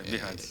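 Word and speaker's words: BI-RADS: Quando sai o laudo da mamografia, tem lá o BIRADS, pronunciei correto? Isso, exatamente, BIRADS.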